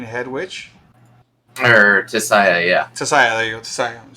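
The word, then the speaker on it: Tissaia: And in that, she does end up getting found by Tessa, right? And she's like the what would you say, like the main head witch? Or Tisaya, yeah. Tessaya, there you go, Tessaya.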